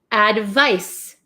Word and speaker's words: advice: this one this is advice s advice advice so this makes like an S Sound Advice advice so you